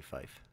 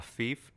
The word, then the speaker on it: fief: So, I mean, it's obviously fife. A fief is a fief. No, no. It's fife. A feudal estate. Does it give a pronunciation? It does, and it says fee, F-E-E.